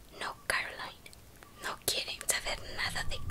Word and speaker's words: Coraline: delante de la puerta principal del piso de Coraline y llegaban hasta el ático el viejo baja